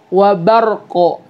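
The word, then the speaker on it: وبرق: baca keliru di wara'du wa barqo gitu ya. Jadi bacanya itu bukan barak teman-teman, tapi wa barqo. Bar terus ada qalqalah qafnya ya.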